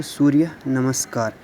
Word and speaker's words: सूर्य नमस्कार: तो इसकी प्रोनाउंसिएशन भी दे रखी है, देखो सूर्य नमस्कार।